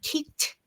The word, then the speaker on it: kicked: How she kicked the ball. And the word kicked here, everyone, the pronunciation of the ed ending verb here is pronounced kicked, kicked, kicked.